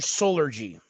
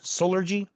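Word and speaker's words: Solergy: And it's spelled S O L E R G Y like soul like salt and sun solar gy master solar.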